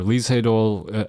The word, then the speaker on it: Lee Sedol: And I wanted to do a little bit of a review of Isedol's, or Lisedol, if you're more familiar with that pronunciation, his interview with Google recently that was uploaded.